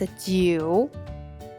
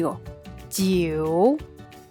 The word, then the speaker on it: 九: "Iu" is pronounced "you" as in English, following these steps try to repeat with me (jiu3) 九, (jiu3) 九, (jiu3) 九.